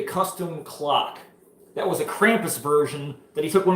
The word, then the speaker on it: Krampus: Hey, can I get a Krampus? I gotta say Krampus because otherwise Steve will want to fucking smash my nuts for not saying Krampus and not Krampus because we say it wrong.